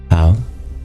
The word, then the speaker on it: 道: Some people do it with a voiceless dental. But the truth is, the way of pronunciation is something in between. It's not quite voiceless and it's not quite voiced. 道. 道. It's in between a t and a d.